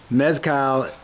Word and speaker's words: mezcal: And if you do like a little cocktail here and there, mezcal, how do you say it?